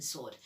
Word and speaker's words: SWORD: Why did I pronounce the W in sword? I think she might be an agent of SWORD.